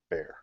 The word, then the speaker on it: Bexar: So everybody who's listening, if you've read the book, Bexar, it's actually pronounced bear.